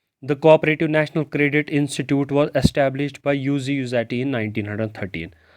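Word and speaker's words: Luigi Luzzatti: इसके बाद दूसरा बंदा है यूजी यूजैटी। एल इसका साइलेंट है दोनों में, इट is pronounced as यूजी, यू से यूजी, जी नहीं पढ़ा जाता, इसको पढ़ा जाता है यूजी यूजैटी।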